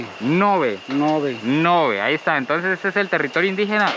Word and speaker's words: Ngäbe: Ça se prononce ngäbe. C'est le territoire indigène ngäbe, et nous allons voir comment ils fabriquent des artisanats.